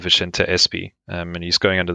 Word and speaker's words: Vicente: His actual pronunciation is Vicente.